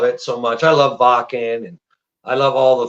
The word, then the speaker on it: Wacken: I love Wacken and I love all the festivals. I said Wacken. Yeah. That's how you pronounce it.